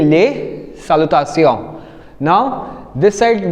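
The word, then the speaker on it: salutations: uh ending with S बट यू आर not saying less and then सालता सियोस because S इज a consonant so वी are keeping it silent so वी are saying ले सालता सियो now this side we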